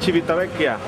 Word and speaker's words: Civitavecchia: Estamos en Civitavecchia, Italia.